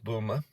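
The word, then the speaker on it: Boulmer: Air Force boom um it's spelled b-o-u-l-m-e-r Boomer um in Northumberland and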